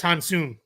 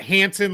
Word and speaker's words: Hansen: And I might be a little bit off, but it's definitely it's it's not Hansen like he was, you know, our next door neighbor here in the US growing up.